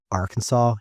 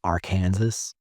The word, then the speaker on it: Arkansas: ever wondered why it's illegal to mispronounce Arkansas you can't say Aransas or why Dy and